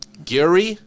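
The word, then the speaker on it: Gehry: frank how do you say his last name gary has signed on from the project gary are you kidding me can you pronounce his last name what's wrong he's a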